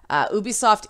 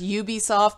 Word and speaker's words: Ubisoft: apologize they are right they also say the company's pronounced Ubisoft not Ubisoft I am NOT going to be able to get away from saying ooh be soft I have non Canadian